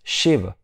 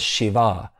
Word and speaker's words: Shiv: Now, when we look at the word Shiv, the actual word is Shiv. It's a small A, but a lot of the times you'll also see Shiv pronounced as Shiva.